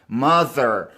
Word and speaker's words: mother: نو mother زه به د تلفظ درته کوم mother ما درته ویل چې د ټي ایچ لکه دال په انګلیسي کې تاسو لکه داسې به تلفظ کوئ mother.